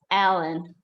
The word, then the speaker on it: Helen: 8 and So yeah, because in Portuguese, you don't really pronounce any H sounds if it's at the beginning of a word, right? So like if you have a girl with a name spelled Helen, in Portuguese, it's Ellen, right?